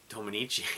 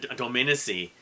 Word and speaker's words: Dominici: Charlie do minichi if I've said your name all these years wrong I'm really sorry about that I you know I heard I think it was either petruci or one of the other members pronounce it do dominici or Dominy um I always remember actually